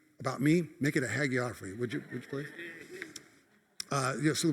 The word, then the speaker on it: hagiography: Yes, what Dick just said, hagiography.